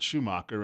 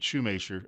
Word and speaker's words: Schumacher: on TV as David Schumacher and then he became David shumate sure as I've said this earlier when he discovered that his Alsatian ancestors actually spoke French so he changed the